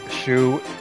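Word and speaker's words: Xu: It's X U. I know it's a Chinese name. I think it's pronounced Shu.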